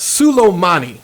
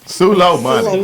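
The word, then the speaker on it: Soleimani: topics, is pronounced Sulomani. Sulo money.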